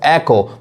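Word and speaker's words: echo: यहां देखिए इसको एको, मतलब इसको इको कहते हैं, जो कि सही उच्चारण क्या है?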